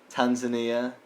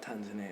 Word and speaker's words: Tanzania: So South Africa, Ethiopia, Kenya, Mozambique, Seychelles, Tanzania, Lorraine, Mayotte, Comores, and my country Mauritius. I have a thing about... I found out something about Tanzania. It's not actually pronounced Tanzania. Alright. It's pronounced Tanzania. Really?